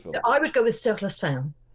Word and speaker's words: Sur la Seine: Holly, give us a proper French pronunciation of the title of this film. I would go with Sur la seine. Sur la seine.